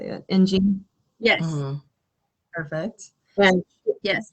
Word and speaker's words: Ng: Ng.